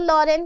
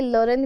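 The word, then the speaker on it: Lorraine: ठीक है, एल्सास और लॉरेन के स्कूल्स में क्या पढ़ाया जाएगा? फ्रेंच। मैंने पहले ही बताया था कि लोरेन भी है और लॉरेन भी बोल सकते हैं।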